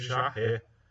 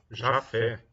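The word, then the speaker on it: Jaffe: Putz, Jafé. Tríade de Jafé, galera. Eu vacilei. Jafé, tá? Vamos apagar aqui. E esquecemos do Thales, né? Mas vamos fazer a nossa homenagem a ele. Tríade de Jafé, tá?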